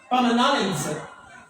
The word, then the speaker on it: knowledge: na English ang matagal sila sa, di ba silent letter? Knowledge.